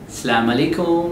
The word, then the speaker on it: Assalamu alaikum: The main difference is you don't pronounce each and every letter properly. The harf in Arabic, the main thing, native Arabic speaker will listen to your conversation. They can easily catch you by hearing your way of pronouncing the harf, the letters.